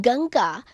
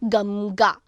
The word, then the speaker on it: Ganga: In Ganga, before G, we pronounce Ng. That is not Gamga. Anuswara means So we are not saying Gamga.